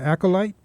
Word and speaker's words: Acolyte: Acolyte? Yeah. Am I pronouncing it right? Yeah. Okay. Can you talk? Well, we're running short on time, but can you tell the listeners about your band, Acolyte?